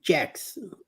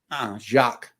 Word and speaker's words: Jacques: St. Jack's Day. Jacques. It's Jacques. Yeah, there we go.